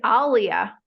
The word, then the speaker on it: Alia: It's Alia.